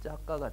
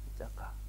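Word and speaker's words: cakka: 그리고 이제 빨리어로 이걸 차크라를 빨리어로 발음하면 짜까가 되는 거예요. 짜까.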